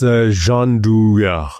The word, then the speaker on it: Gianduja: You have, I think, the correct pronunciation. It's Gianduja.